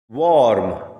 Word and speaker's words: worm: Warm. R is silent here and O is pronounced as half A.